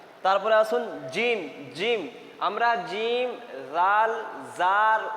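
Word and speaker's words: جيم: হবে না সার মাখারিজ হবে না তারপরে আসুন জিম জিম আমরা জিম জাল জার উচ্চারণ একই করে দেই জিম জাল জ এই সমস্ত কিছু উচ্চারণ আমরা একই করে দেই কিন্তু আমাদেরকে পার্থক্য করতে হবে এই দেখুন জিম আছে এখানে জিম জিমকে মোটা করে পড়তে হবে।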